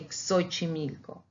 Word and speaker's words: Xochimilco: X in the beginning, we pronounce it as with two consonants, like K and S, but it's X. So we say Xochimilco.